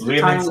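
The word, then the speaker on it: Leomund: It's Lemon's tiny hut. In 5th edition. I always pronounce it lemons, like lemonade.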